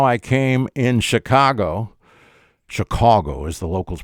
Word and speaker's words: Chicago: explain to you how I came in Chicago Chicago is the locals pronounce it how I came to share a